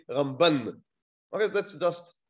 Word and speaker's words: Ramban: we put the emphasis so when we speak about rabbi moshe ben maimon the emphasis is on the first syllable rambam when we speak about rabbi moshe ben nachmann the later then the emphasis is on the last syllable so you say ramban i guess that's just